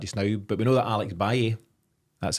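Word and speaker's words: Alex Valle: about that just now, but we know that Alex Baye, that's how to pronounce it, Paddy, isn't it?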